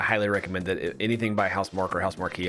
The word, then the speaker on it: Housemarque: Anything by Housemarque or Housemarque, however they want to pronounce it. I believe it's Marquee.